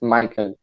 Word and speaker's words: Michael: think it's easier but actually the right way to say it is my king because i'm from cuba and this is like a a kind of spanish way to say michael oh well uh great